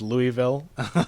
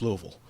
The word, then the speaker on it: Louisville: Ali was born in Louisville, Kentucky. uh and which they mis mispronounced repeatedly as Louisville, which everyone always does, but if you're from this area, you know it's Louisville.